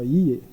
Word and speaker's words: Ye: No, Ye. Ye? He say Ye. Ye, yeah. Well, now you can spell that.